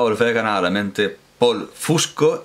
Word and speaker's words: Fusco: pronunciar paul pero no voy a pronunciar fiesco como como habitualmente oigo me parece que es un apellido italiano como poco como poco y voy a decir fusco voy a decir paul fusco me ha traído para